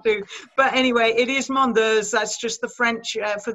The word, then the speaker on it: Mondeuse: And it is Mondeurs, and I can only just think of the state of Jersey, and if you think of the in Jersey, it's Mondeurs.